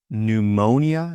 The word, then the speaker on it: pneumonia: Silent P. If you speak Greek, you'll know this from words like psychology, psychology, psychiatrist, psychiatrist, pneumonia. Pneumonia.